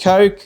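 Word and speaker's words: kok: So flower horns with their huge coke, which is how it's pronounced, coke apparently, K-O-K, frontosa, and lionhead cichlids.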